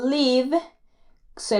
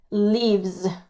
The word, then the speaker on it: lives: Y por último, el verbo live, se le pone la S y se pronuncia como una Z al final. Lives.